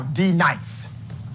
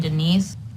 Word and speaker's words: D-Nice: Now, D-Nice. Do you mean Denise? You say your name right now. Denise? Say it right. Denise. Correctly. Denise. Right. Denise. Right. D-Nice? That's better. Thank you.